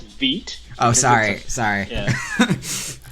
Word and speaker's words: Vite: So it's pronounced Vite. Oh, sorry. Yeah. It's a French word for fast.